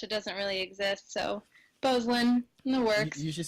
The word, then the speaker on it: Beuzelin: So in French, I mean, it's like 12 letters long, but we only use like 6 of those letters. So it's pronounced Beuzelin.